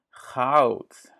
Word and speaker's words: goud: Goud.